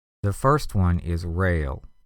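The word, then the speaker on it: rale: here for the sounds the first one is rail r a l e a rail is an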